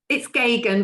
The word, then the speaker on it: Geoghegan: I knew I wasn't going to be able to pronounce this. Geoghegan, is that right? Geoghegan. No, it's Geoghegan, but it doesn't matter.